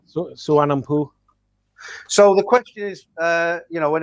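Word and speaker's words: Suvarnabhumi: Well, the nickname is Swampy or Suvarnampu, Thailand, yeah. Suvarnampu.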